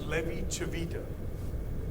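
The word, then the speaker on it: Levi-Civita: introduced you to this Beast yeah and it's pronounced Levy chavita b i b i t a so for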